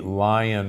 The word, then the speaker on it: Lyon: which was called The Lion Heart Diet or the Leon Heart Diet l-y-o-n but most from Lyon France but most people pronounce it lion there that diet in